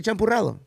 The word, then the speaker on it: champurrado: Say champurrado.